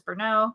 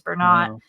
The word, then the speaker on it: Bernot: so uh it s people mispronounce it all the time as berau wanting to make it very French uh it is Bern it is shortened from